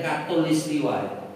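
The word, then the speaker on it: khatulistiwa: lurus yang bahasa kita khot dibaca katul khatul itu dibaca katul maka bacanya Katulistiwa itu artinya garis lurus itu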